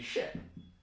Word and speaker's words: ship: And for this one, you could pronounce like sheep, which means 绵羊, sheep. Sheep. And then there would be ship, which means 船. And actually, a lot of people confuse the two and can't differentiate since the pronunciation is a